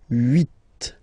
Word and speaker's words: huit: Remember in French this H letter here, okay, doesn't exist phonetically, so we don't really pronounce it, okay, so if you listen carefully, you will only listen or hear these vowels at the beginning of the word.